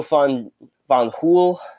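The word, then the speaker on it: Fanjul: US sugar is Alphonso fun von pool junior I believe is how you pronounce it if the if it if the J is like pronounced like an H right but so Alphonso Alfie jr.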